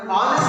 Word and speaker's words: honest: Actually here the H is silent. We will pronounce this one as the R, not as the R. And honest also we will pronounce as the honest, not as the honest.